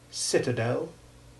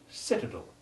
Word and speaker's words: citadel: exactly though note that caramel and citadel may also be pronounced correctly without any stress on the last syllable in which case the sound becomes short e2 caramel and citadel the last word in